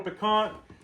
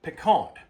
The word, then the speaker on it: piquant: You've got to, if you're going to do it right, according to a cinjun, you got to ignore that T. It's not pecant.